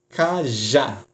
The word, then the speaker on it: cajá: Cajá. Cajá recebe acento. Por quê? A sílaba mais forte é a última.